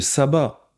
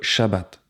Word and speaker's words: shabbat: luutériennes donc attention à ne pas dire qu'on fait le sabbat car en réalité nous ne faisons pas de culte satanique nous faisons le repos hebdomadaire commandé par Yahoué le shabbat et c'est très différent donc voilà il sera peut-être temps de changer de prononciation c'est bien de se